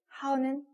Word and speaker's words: 好: 자, 그러면 하오 먼저 갈게요. 하오는 몇 성?